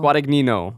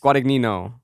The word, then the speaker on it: Guadagnino: Guadagnino. Yes. Guadagnino. I think it's the same way you say like the guy from Jersey Shore, Vinny Guadagnino.